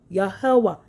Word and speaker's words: Yahawah: Ya, Yoh, Yahwa, Yahawah. He observed that they pronounced it in four syllibles matching the Hebrew pronouncing that was hidden from the world.